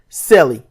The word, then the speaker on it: CELE: a new project the project name is Cele pronounced celli it stands for Cloverfield